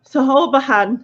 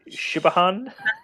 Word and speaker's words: Siobhan: Like if I was just gonna read it, like my brain wants us to, right? I'd go Sahobahan. Why do people have names that don't get pronounced? It's stupid. Yeah, I've just put it in the chat for everyone else. But that's the one where I was like, Shibahan.